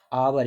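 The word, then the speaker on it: hour: 37 पे ही इज आवर, इसको क्या पढ़ते हैं, आ पढ़ते हैं, और आ जब पढ़ते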